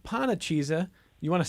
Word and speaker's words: Panacheeza: I don't know where you find Parma Chisa, but Pana Chisa, You want to spell it for people?